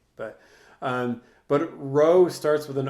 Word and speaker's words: rho: but really that's a lowercase Greek letter row um which is spelled rho that's the letter that